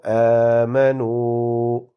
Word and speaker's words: آمَنُوا: Prolongate the alif, do not prolongate meme, and prolongate noon and waw. So آمَنُوا.